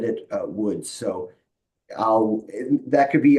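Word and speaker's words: Łódź: um and in the in the Polish language that is pronounced as a w so poles will say wood like that uh but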